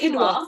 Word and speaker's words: quinoa: Is it quinoa? Quinoa. Yeah, it's spelt with a Q, but it's pronounced KWE, quinoa.